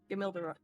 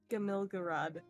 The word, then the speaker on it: Gamilgaraad: city- How do you pronounce the city's name again? Gamilgarad. Gamilgarad.